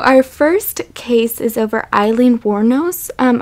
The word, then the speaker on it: Eileen: over Eileen waros um I've also heard her name pronounced elen or just waros but I'm going to go with Eileen cuz that's my aunt's name and it's best for me to read it that way I'm not saying my